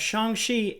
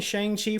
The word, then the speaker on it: Shang-Chi: We got an update on the production of Shang-Chi and the Legend of the Ten Rings. That's how Kevin Feige was pronouncing it. I'm going to assume that's correct. We've all been saying Shang-Chi for a while, but if it's truly Shang-Chi,